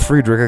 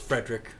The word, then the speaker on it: Friedrich: I have to correct you because I made this mistake for years. It's just Frederick. They're just the Fredericks. Frederick. I said it wrong for so many years.